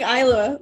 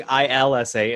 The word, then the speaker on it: Isla: they were talking about isla fisher what her mom was like they were saying elsa fisher which is a mispronunciation of the wrong spelling oh they were doing ilsa instead of isla and i was like